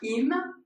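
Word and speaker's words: אם: Vous reconnaissez le Aleph, et avec un même, dans le schéma Israël, ça se prononce im, et ça veut dire si.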